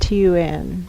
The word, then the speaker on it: Thunberg: There is no H sound in that language. That's right. It doesn't exist. The sound doesn't exist in that language. Thunberg. And the B-U-R-G, Buri, that's how it's pronounced.